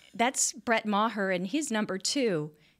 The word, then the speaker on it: Maher: Brett Maher okay yeah it's smaller than mah er but he pronounced it Maher he pronounces it Maher so okay so he